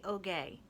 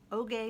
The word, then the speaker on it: Oge: There was a recording of her explaining that it rhymes with okay. Okay, Oge. Oge Mora.